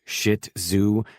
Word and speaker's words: Shih Tzu: And I was now the proud owner of a round ball of fluff I was informed was called a Shih Tzu, pronounced shi zoo, and not the thing